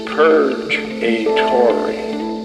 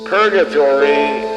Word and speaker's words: purgatory: perfection exists purgatory which if you mispronounce it it's purge a tory purgatory is a list of those in waiting how